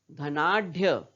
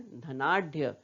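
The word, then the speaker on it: धनाढ्य: धनाढ़, धनाढ़ बोलते हैं क्या, नहीं, धनाढ़, सही उच्चारण धनाढ़।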